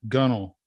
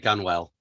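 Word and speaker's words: gunwale: so but at least have the word gunnel in in the script yeah she said gun well yeah most people unless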